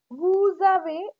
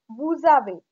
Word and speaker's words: vous avez: Vous avez, again here liaison, the, vous avez, you have.